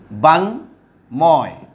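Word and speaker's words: বাঙ্ময়: তারপরে বাংময়, এখানে ময়ের উচ্চারণ ঠিক আছে, এখানেও ময়ের উচ্চারণ ঠিক আছে, এখানেও ময়ের উচ্চারণ ঠিক আছে।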